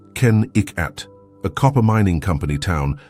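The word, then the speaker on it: Kennecott: This was Kakott, pronounced Ken Ikat, a copper mining company town that boomed in the early 1900s.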